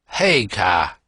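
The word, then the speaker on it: Haigha: when he's happy his name's his name is hey car he pronounced it so as to rhyme with maya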